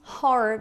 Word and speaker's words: horror: O H em inglês, ele tem esse som de o rato ro a roupa do rei de Roma.